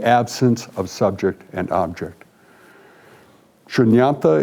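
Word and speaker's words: शून्यता: Shunyata is what it's, how it's pronounced in both the Pali and the Sanskrit. The spelling's just a little bit different.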